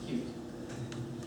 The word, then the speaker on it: Qt: I should say uh it's pronounced cute, apparently. And I I mispronounce it all the time, so I don't mind if you do. Um, but I I should say that QT is pronounced cute.